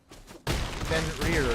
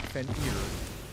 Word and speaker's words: Fenrir: Oh, it's pronounced Fenrir, not Fenrir.